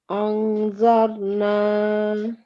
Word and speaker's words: أنظرنا: Okay, so we haven't covered this rule yet, but the correct way to say this word is أنظرنا. Anzarna. Very good.